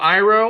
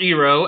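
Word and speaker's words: Iroh: for example Prince Zuko General iro or ero as he was pronounced in the movie even Fire Lord oai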